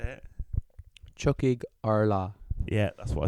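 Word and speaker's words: Tiocfaidh ár lá: Watch the third one called Chucky Allah. Is that how you say it? Chuckig Arla Yeah, that's what I said.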